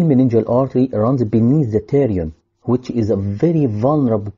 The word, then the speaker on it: pterion: The pterion, because the P is silent, is the region where